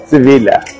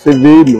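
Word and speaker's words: Sevilla: আপনারা দেখুন যে সামনে লেখা আছে আই লাভ সিভিলা। সিভিলা অ্যাকচুয়ালি আমরা ইংরেজিতে বলি সিভিল বলি, সিভিল অ্যাকচুয়ালি সিভিল বলি, কিন্তু যখন স্প্যানিশ ভাষায় এটা উচ্চারণ করা হবে, এটাকে উচ্চারণ করা হবে সিভিলা।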